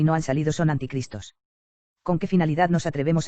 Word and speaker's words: anticristo: llegar después de él ni se pronuncia ni se escribe ante cristo sino anticristo esto es contrario a cristo